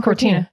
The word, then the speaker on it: Cortina: Yeah, Milan Cortina.